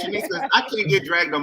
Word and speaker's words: Shenice: Yeah, it's Shenice. It's Shenice. I can't get dragged on my own show because I'm pronouncing people's name wrong.